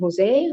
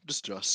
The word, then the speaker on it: Jos: How do you pronounce his name? Jose? Who's? No, just Joss.